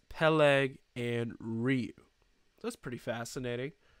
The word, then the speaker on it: Peleg: pronounce this name Eber Peleg and Ryu I think I got that so it's right here by the way Eber pegleg he'll egg it's not pegleg he's not a pirate it's Peleg and ryu that's pretty